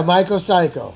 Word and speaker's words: MykoCyko: You tell me if I pronounce it that well. MykoCyko? Yeah, MykoCyko.